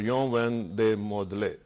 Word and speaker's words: Jean Van Mordel: Yon Van de Modele. Is that right? That's correct, sir. Thank you. Am I pronouncing well?